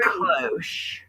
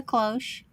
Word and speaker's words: cloche: This is a She probably cloche. warmed everything, weddings, That's like a church. We're the going to call this one 40s. cloche because I think that's what the style Yeah, of it. that's a cloche.